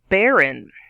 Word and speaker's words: barren: word number two is baron a picture of a barren tree right here baron two syllables stress on the first half bear in baron is an adjective